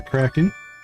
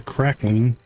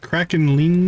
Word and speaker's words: Kraken: I think that's the crackling. Crackling. Kraken, I think is the pronunciation. Kraken.